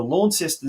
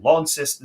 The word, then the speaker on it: Launceston: They had a big 5-2 win over Launceston City at home, or Launceston City as the locals say.